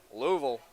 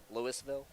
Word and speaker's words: Louisville: Donaldson from Louisville, Kentucky. That's how you pronounce it. I guess it depends where you go, where you're from. Lewisville maybe. No, no, not that.